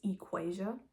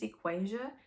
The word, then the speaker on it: Equasia: Also, if you don't know how to say my name, it's Equasia, because I know my name is kind of crazy, but my name is Equasia, and I go by for short.